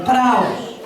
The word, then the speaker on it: praos: Se escribe praotes, pero praos.